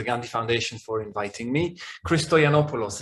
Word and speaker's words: Christoyanopoulos: Christoyanopoulos is how you say it, but I'm used to it being butchered and I really don't mind. It's entertaining, it's fine. It's funny how different nationalities tend to pronounce it in different wrong ways and to compare pronunciations, but it's fine.